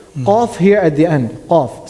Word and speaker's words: ق: Then we have Qaf, which is pronounced The tongue meet in the soft palate. good. The back of the tongue Meet in soft going palate. up and touching the soft palate.